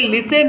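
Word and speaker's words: listen: वक ऐसे ही देखो ये लिसन है लिसन लिसन माने सुनना और सुनकर समझना एल आई एस टी ई एन लेकिन इसे बोलते हैं लिसन इसमें टी साइलेंट होता है क्या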